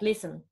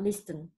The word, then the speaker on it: listen: So just like we do not pronounce the t. Hastened and not hastened, just like listen and not listen.